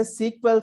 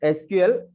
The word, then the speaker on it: SQL: So we have to pronounce this as a SQL Server. It is not SQL.